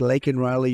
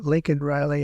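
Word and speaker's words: Laken Riley: months of prodding him Biden couldn't pronounce her name he said he said Lincoln Lincoln Riley and Lincoln Riley is the football coach coach and uh this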